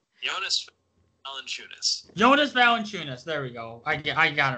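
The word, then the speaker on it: Jonas Valančiūnas: Jonas Valanciunas.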